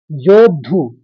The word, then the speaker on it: योद्धु: दूसरे चरण को देखिए योद्धु एक शब्द हो गया द में हलंत है तो योध और फिर धु हल्का सा अश्व बोलेंगे योधु दो द के उच्चारण आने चाहिए योद्धु क्योंकि आघात है